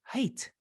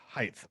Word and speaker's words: height: ends in a t the g h is silent height height oh no way are